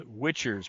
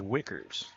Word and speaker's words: Wicker: her first foul now they're pronouncing it as witchers but I was told by the coach that it is Wickers first foul shot is